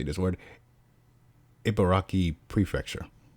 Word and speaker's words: Ibaraki: Ibaraki Prefecture. Ibaraki? Yeah, that's how you pronounce it.